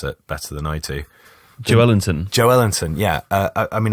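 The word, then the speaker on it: Joelinton: really quite unusual funnily enough some someone like Joe Latin or you know how to pronounce it better than I do Joe Ellington Joe Ellington yeah I mean I know that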